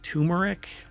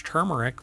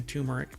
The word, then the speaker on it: turmeric: lot of people pronounce turmeric but it's not and I've had people when I say it's turmeric with an r and they're like there's no R in that no really because it's